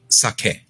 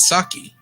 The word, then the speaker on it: sake: The rice wine drink is pronounced sake, right? But we call it sake because English kind of mutilates everything.